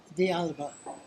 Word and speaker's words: Alba: How do you pronounce that? Alba.